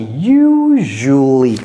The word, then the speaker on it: usually: en anglais ça c'est ça devient un J donc ça c'est usually et vous ne prononcez même pas le a usually usually ça ça